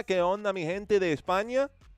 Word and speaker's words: España: ¿Qué onda, mi gente de España? Or I should say España, right? That's kind of how they say it.